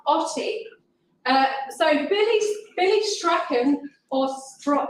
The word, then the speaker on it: Strachan: uh so billy billy strachan or heather told me how to say it in a scottish way it's strong and he he was